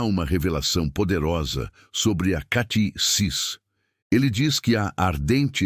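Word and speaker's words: κτίσις: Para aprofundarmos neste conceito, podemos olhar para a palavra grega usada no Novo Testamento para criação, que é katisis, se pronuncia katisis.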